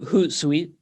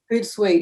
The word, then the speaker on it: Hootsuite: Hootsuite, Hootsuite, yeah, Hootsuite.